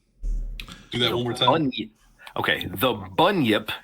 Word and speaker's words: bunyip: Bunyip. Okay, the bunyip, it's spelled Bunyip.